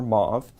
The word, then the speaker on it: mauve: purple color and perkin named this purple color mo for mauve depending on your preferred pronunciation and somehow perkins discovered that this move